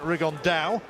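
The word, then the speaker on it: Rigondeaux: though or as he's correctly pronounced with the Spanish accent riggan Dow Chu absolute geniuses but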